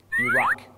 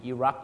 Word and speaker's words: Iraq: นั่ น เ อ ง ค รั บ Iraq and Iran.